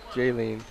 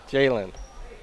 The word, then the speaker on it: Jalen: a foul against Hamilton I think it might be pronounced Jalen I'll ask Derek want to get a chance is it Jalen okay sorry I've been pronouncing it Jailene Jalen sorry guy and that's